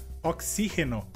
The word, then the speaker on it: oxígeno: A próxima palavra seria, em espanhol, oxígeno, e em português seria oxigênio. E a diferença seria que na palavra em espanhol a sílaba forte seria xi, e em português a sílaba forte seria g.